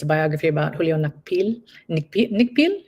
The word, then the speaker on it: Nakpil: Nikpil? How do you say his Nakpil, name? Nakpil.